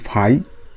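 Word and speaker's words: φ: দিয়ে এটা ঠিক আছে এটা একটা গ্রিক অক্ষর যার উচ্চারণটা হচ্ছে ফাই এটাকে আমরা কি বলি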